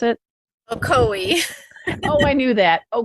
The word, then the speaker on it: Ocoee: at the Wolfgang Academy of grooming that's in Ochi is that how do you pronounce it Ocoee oh I knew that oh Chloe I can